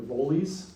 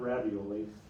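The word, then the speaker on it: Rivoli's: Pronunciation of Rivolis, not ravioli.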